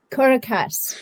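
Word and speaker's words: Corrécasse: In 2023, is it, and you can correct me if I'm pronouncing this incorrectly, okay? Is it Correcasse? Correcasse? Correcasse.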